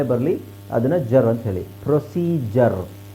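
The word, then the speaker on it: procedure: ಅದನ್ನ ಜರ್ ಅಂತ ಹೇಳಿ ಪ್ರೊಸೀಜರ್ ಪ್ರೊಸೀಡಯೂರ್ ಅಲ್ಲ ಪ್ರೊಸೀಜರ್ ಪ್ರೊಸೀಜರ್ okay ಪ್ರೊಸೀಜರ್ ಸೋ ವಿಚಿತ್ರ ಅಂತ ಅನ್ಸುತ್ತೆ ನಿಮಗೆಡಿ ಯು ಇದೆ ಆದರೆ ಜ ಅಂತ ಹೇಳ್ತಾ ಇದೀವಿ ಪ್ರೊಸೀಜರ್ ಓಕೆ ಹಾಗೆ ಸ್ಕೆಜುಲ್ ಸ್ಕೆಜುಲ್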